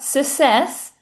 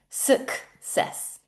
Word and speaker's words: success: Not success, success, success. Okay, did you practice saying them with me?